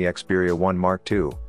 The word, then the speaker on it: Xperia 1 II: We are going to talk about Sony Xperia 1 Mark II, so let's start without wasting further time. The Sony Xperia 1 II, actually pronounced as the Xperia 1 Mark II, is the Japanese giant's